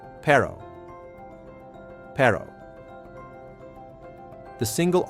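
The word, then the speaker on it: perro: The double R or R R is rolled. It's one of the hardest sounds for English speakers. Dog in Spanish. Pero.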